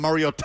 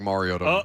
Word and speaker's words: Mariota: that's like Mariota, Mariota. Yeah. The phonetics. Of Mar-E-O-Ta Yeah. is what it says.